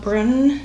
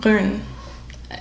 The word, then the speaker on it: Brun: It is called Brun. It's called Brun. That's how you pronounce it.